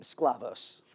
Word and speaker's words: Sklavos: Alex, how do you pronounce your last name? Sclavos. Sclavos.